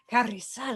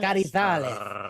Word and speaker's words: Carrizales: Sid, I was gonna say I liked your pronunciation of my last name. You said Carrizales. Carrizales.